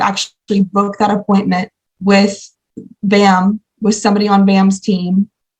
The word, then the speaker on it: BACM: Management but for short we call it bam is silent so you'll see a tab that says b-a-c-m and it's going to